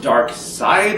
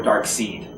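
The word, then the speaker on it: Darkseid: But I will say the last couple issues with the, is it pronounced Dark Side or Dark Seed? I would say Seed because it's E-I-D. I'm not even 100% sure.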